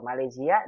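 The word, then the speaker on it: ماليزيا: Malaysia dia tidak ada tasydidnya. Kita bacanya gini Malaysia. Wa talibun wahidun min Malaysia. Min Malaysia, bukan Malaysia. Malaysia. Coba lagi. Wa talibun wahidun min Malaysia. Bukan min Malaysia, bukan min Malaysia. Min Malaysia. Z-nya pendek, Malaysia.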